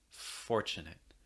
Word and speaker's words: fortunate: a part of it fortunate fortunate again with the r sound notice the difference because again you have the r before the consonant so fortunate make sure it's strong enough in american english so again these have